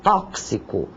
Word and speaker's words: tóxico: e tantos outros tóxico uma palavra que muita gente pronuncia de forma errônea é com x e soa como um KS tóxico maxilar o sório que